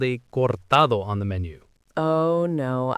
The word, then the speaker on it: cortado: For our listeners who might not be familiar, a cortado is a Spanish coffee drink, equal parts espresso and warm milk. The stress is on the middle syllable, cortado.